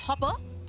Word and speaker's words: Hoppe: Or as Hans Hermann Hoppe put it in my quote from him at the beginning of this video, Wait, hold on. It's pronounced Hopper? It's not Hop, it's Hopper?